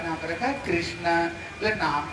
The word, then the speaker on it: कृष्ण: बोले नाम तो बड़ा अच्छा है लेकिन जो कृष्ण नाम, जब तक ये जीवा तीन बार टेढ़े नहीं हो जाते ना, देखना ये जीवा ये कृष्ण नाम नहीं उच्चारण होता है, इसलिए तू टेढ़ो तेरी